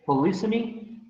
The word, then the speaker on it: polysemy: Some pronunciations say polysemy, and some others polysemy. Let's check with the dictionary, so I don't get too lost. All right, yes, as you can see, the accent is in two different places.